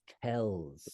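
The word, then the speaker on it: Kells: image from that time was the book of Kels book of Kels the illuminators k l LS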